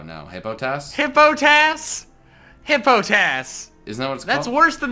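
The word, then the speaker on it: Hippopotas: hey botas hippo tafs hippo tas is no that's worse than the anime pronunciation of it hippo pitous its nipple POTUS yeah it's hippopotamus with the M syllable taken out hippo TAS I feel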